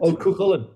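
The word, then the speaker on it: Cú Chulainn: I'm not going to be able to pronounce this one. Cuchulain's Oh, Lament. Cuchulainn. Cuchulainn.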